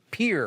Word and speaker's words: Pierre: will see you in pierre or pier pier right you know here look it's video absolutely it's spelled pierre like the french guy but it's actually pronounced pier i knew that part